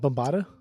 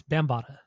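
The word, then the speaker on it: Bambaataa: listened to today was Africa Africa Africa bamb bambata I guess it's how you pronounce it we' I've always pronounced it wrong but it's bambata um is that bambata it's bambata bambata that's stupid that's how they were saying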